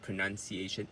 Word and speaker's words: pronunciation: So the nun is the word stress, and also the pronunciation, the correct pronunciation is not a pronunciation, it is pronunciation.